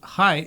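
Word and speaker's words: hei: hi i said no that's hi h-e-i is spelled hi like hi but for norwegian and then anyway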